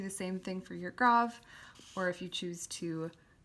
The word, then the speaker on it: grave: next one is called the grav or grave grav accent spelled like grave and comes down so